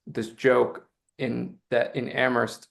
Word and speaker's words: Amherst: And we we like to have this this joke in that in Ammerst only the H is silent um for us for us locals.